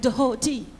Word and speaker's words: Dehoti: No, darling, I said Dehoti. Watch the T's and pronounce the DH.